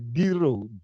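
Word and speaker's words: güiro: And the proper name is the Guiro, Guirro. Spanish pronunciation, Spanish name and Gee, thanks.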